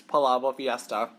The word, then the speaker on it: Palabok Fiesta: And then I asked her, I was like, oh, how do you pronounce this dish? And she told me, it's Palabok Fiesta.